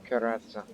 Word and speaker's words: Karatza: Karatza. That's how you say her name in Serbian.